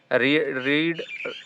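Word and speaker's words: read: रीड वही रीड होगा लेकिन हम उसको फिर पास्ट फॉर्म में रेड कहते हैं। रेड इस तरह प्रोनाउंस करते हैं।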